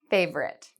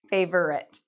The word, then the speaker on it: favorite: The pronunciation of this word, favorite, okay, not favorite.